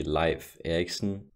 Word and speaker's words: Leif Erikson: Viking Explorer Leif Erickson the correct way to pronounce his name would be life Erickson so enjoying me saying Leaf instead of life so while Chris